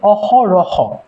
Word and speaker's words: অহরহ: পরে একটা ও আসতেছে তুমি উচ্চারণ করো অহ রহ র এর পরে কি আসতেছে ও আসতেছে অহ রহ প্রথমে আমরা